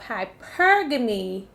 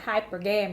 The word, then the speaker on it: hypergamy: First of all, I was pronouncing it hypergamy because I ain't never. So when I looked it up, I was like, oh, okay, hypergamy.